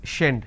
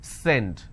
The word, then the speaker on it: send: you make a mistake you will end up pronouncing this as shend shendit it's not shend it's send so these are the